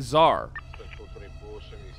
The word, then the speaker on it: czar: x or a z it's it's a z z z z z z-a-r like a car but live z like okay okay like a like a czar uh yeah like as